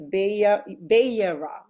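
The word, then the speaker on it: Vayera: I always forget how to pronounce it. Let me see. It's YERA.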